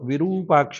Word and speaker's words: विरूपाक्ष: और विरूपाक्ष में रू दीर्घ है।